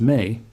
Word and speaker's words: ME: The countdown is built around a concept the Sumerians called the ME, pronounced may, which was their word for the divine decrees that governed civilization itself.